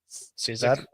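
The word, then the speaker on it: Cicek: Cizik.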